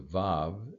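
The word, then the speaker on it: ו: As we've talked about before, in biblical Hebrew, the vav is actually a W sound, but modern Hebrew, it takes the V.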